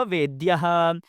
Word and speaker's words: वेद्यः: जब मैंने पहली बार उच्चारण किया तो मैंने सन्निविष्टः और वेद्यः कहा। दूसरी बार में सन्निविष्टो एवं वेद्यो, आप दोनों कह सकते हैं।